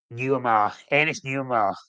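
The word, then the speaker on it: Nuamah: He didn't at the press conference, but sources and news outlets in France say a deal has been agreed for Ernest Nuamar.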